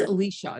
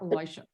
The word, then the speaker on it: Elisha: now by the way his name is pronounced Alicia not Elijah oh I'm sorry and